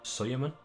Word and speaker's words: Suleiman: Okay, so he pronounced Suleiman as Soyerman, so I'll try and remember that. I will probably call him Suleiman quite a lot, so we shall see.